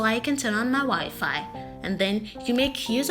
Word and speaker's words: Wi-Fi: how would you pronounce it would you say wifey do you usually pronounce the word as wifey you should repent now the word is rightfully pronounced Wi-Fi Wi-Fi yes Wi-Fi what is the Wi-Fi it